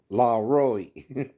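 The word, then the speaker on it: Laroi: Now, once I say his name, Kid Lori, right? La Roy. That's how you say it.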